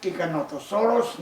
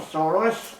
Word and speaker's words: Giganotosaurus: notosaurus today that's right giganotosaurus not cycanto gigantosaurus as many misspell it the tikkanotosaurus will be